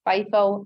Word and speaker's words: FIFO: three different methods bifo those are pronounced fifo lipo and weighted average cost